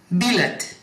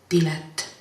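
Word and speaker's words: pilet: Например, билет, а на самом деле на эстонском языке звучит билет. И пишется через букву «П».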